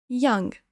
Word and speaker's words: young: Attention ici à la prononciation. Ne dites pas. C'est une erreur courante que font beaucoup de français parce qu'on voit ou U. On a envie de dire ou. Mais écoutez bien comment je le prononce.